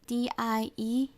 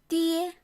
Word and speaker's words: die: we have this pain d IE that's in english now when we want to pronounce that it's not die which will be English like it let's dear dear so we are practicing